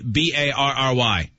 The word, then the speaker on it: Barry: How do you say B-A-R-R-Y?